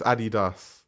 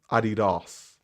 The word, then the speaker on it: Adidas: Is it Adidas or Adidas? It's Adidas. Adidas. It's definitely Adidas.